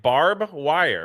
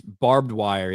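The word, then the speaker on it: barbed wire: How do you say it? Barb wire, right? Is that Well, it's barbedwire. Yeah. Oh, I just said it quickly. You said barb wire.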